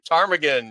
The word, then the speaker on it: Ptarmigan: She's hiked some very dangerous traverses, and I can't pronounce the traverse, but Ptarmigan? Ptarmigan, yes.